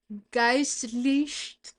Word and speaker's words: geistlich: How do I pronounce this one? Geistlich. Geistlich.